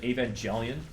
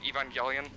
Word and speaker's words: Evangelion: And also, I think you're supposed to pronounce it because it's evangelical. So Evangelion.